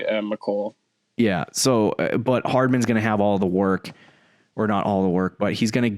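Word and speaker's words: Mecole: How do you say his name? I say McCole.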